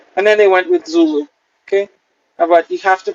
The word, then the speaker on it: Zulu: slavery zebra theta and then they went with zulu okay but you have to pronounce emphasize the first level yeah yokohama is